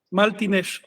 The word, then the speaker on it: Maltines: En Maya Martínez se pronuncia, bueno, como dice el texto original, Martínez. Maya no pronuncia la R.